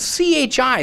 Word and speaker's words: chi: This is the IX. They're not really an X. Oh, this is it's spelled C-H-I. That's what the letter here is. Perfect. Yeah, and it's the chi.